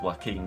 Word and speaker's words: Joaquin: Well, that doesn't, I mean, it's pronounced Joaquin, isn't it?